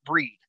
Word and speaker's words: Breed: constantly misspelled or mispronounced officially my last name is pronounced breed b-r-i e is an elephant d as in dog but i have through the years have had people call me bride breeden brode right i don't know where you